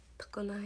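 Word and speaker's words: 常滑: 常滑も確かに、確かに滑るって書いて常滑って読むと思わないよね。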